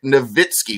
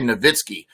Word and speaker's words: Nowitzki: English pronunciation, like Dirk Nowitzki. We say Nowitzki. I think really he would say Nowitzki. I think he said that before, but it got to be Nowitzki for so long that he was just like, fine, whatever.